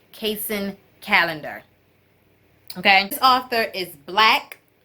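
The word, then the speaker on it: Kacen Callender: butchering the names but I believe his name is pronounced casein calendar okay and author is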